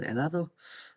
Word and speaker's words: helado: Me encanta el helado. And the H is silent as well when you pronounce the word.